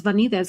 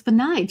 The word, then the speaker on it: Vanides: I thought it was Vanides because it looks Spanish, but it's Vanides. So thank you for clarifying that. No worries. It's Greek, so there's a lot of different ways it can be pronounced.